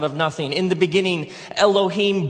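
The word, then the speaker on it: אֱלֹהִים: And it's pronounced Elohim. Let me hear you say Elohim.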